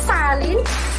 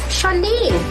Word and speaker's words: Shalin: Not Salin, Shalin.